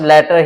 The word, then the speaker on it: latter: एक होता है आपका LATTER, इसको भी प्रोनाउंस लेटर ही करेंगे।